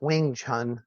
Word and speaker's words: Wing Chun: that you practice I don't know if I'm pronouncing it tell me how it's uh it's just W It's Just Wing Chun it's Wing Wing Chun yeah yeah Wing Chun